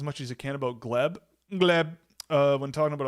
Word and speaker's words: Gleb: Um, can he teach us how to pronounce Gleb? It's just Gleb.